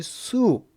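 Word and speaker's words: swoop: 49번은 자, 이것은 발음이 수읍 이렇게 읽으시면 돼요.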